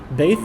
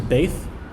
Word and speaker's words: Beth: next letter is bth bth is pronounced like a b sound in English B it can also be pronounced like a V sound V uh but we will learn more about that later for now just know this is bth B the next letter is